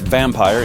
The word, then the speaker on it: Vampyre: finals will feature here vampyre pronounced vampire in English but only rhymes in German so we'll stick to German sniper Schorsch petit putter